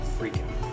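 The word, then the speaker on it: freekeh: looks like boulder but it's uh pronounced freaking all right so we're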